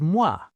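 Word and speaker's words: moi: The word for me is mwah, like mwah, a kiss.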